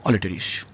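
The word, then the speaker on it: Aletris: আর আই এস ইংরেজিতে বাংলায় আমি করেছি অলিটারিস কোন কোন জায়গায় অল্টারিস বা অলট্রিস এরকম ভাবে বলা আছে মনে রাখবেন ব্যাপারটা একই উচ্চারণ ইংরেজির উচ্চারণ বাংলায় করতে গেলে একটু অল্টার করে যেতেই পারে আমরা ধরে ধরে যেটা করেছি এটা হচ্ছে অলিটারিস অলেস এটাকে কোন জায়গায়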